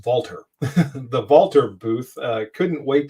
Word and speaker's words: Walther: Walther, the big thing that I wanted to see, and I could not wait to get to and I'm mispronouncing, it's Walther, the Walther booth.